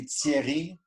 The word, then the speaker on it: Thierry: Terry? You know, there's no phonic for my name in English, unfortunately. I'm in that no man's land. In French, it would be Thierry, you know.